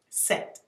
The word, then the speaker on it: sect: So let's break down the first one, sect, S-E-C-T. And I have to spell it because it actually sounds like sex if